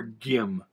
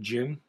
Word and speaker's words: Gim: name is jim allen it's spelled g-i-m so it's kind of like a jif gif thing do you pronounce it jim or gim i think as a